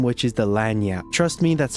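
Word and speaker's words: Lagniappe: you can catch its name, which is the Lanyap. Trust me, that's how you pronounce it.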